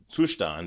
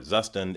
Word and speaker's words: Zustand: so this is a React app, but I'm using a Zustand (German pronunciation) or a Zustand, if you prefer store to manage the state of the app.